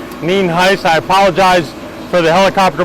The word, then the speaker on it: Nienhuis: Sheriff Nienhuis, it's spelled Nienhuis, and it is pronounced Nienhuis.